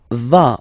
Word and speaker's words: vas: Tu vas, final S doesn't exist.